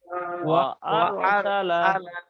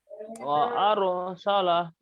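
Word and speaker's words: وَأَرْسَلَ: এরকম এখন তাসদিদ ছাড়া উচ্চারণ হবে। ওয়া আরসালা। ওয়া আরসালা রটা আরসালা আচ্ছা, রটা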